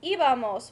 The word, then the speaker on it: íbamos: Ir is one of our irregular verbs, so it's going to be íbamos with an accent on the I.